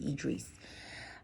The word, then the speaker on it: Idris: Not to be confused with Idris. She's pronounced it Idris.